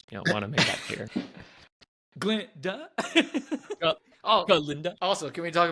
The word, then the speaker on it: Glinda: And so, you know, it's Glinda, but the G is silent. I just, want to make that clear. Glinda?